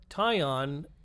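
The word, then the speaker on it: Tyon: Jesse wood the commitment of a basketball player tie on Grant Foster Grant Foster being hyphenated tie on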